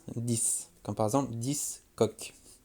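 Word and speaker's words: dix: Et là, pareil, le X s'entendra comme un S, 10, comme par exemple 10 coqs.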